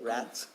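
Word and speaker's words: Racz: be named rats cove rats r-r-a-c-z i believe that's how you say it rats rats go and um oh gabor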